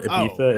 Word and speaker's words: Ibiza: I just came back from Ibiza, or Ibiza is how it's normally pronounced.